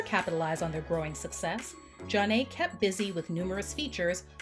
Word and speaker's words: Zhané: To further capitalize on their growing success, Jah-Nay kept busy with numerous features on other artists'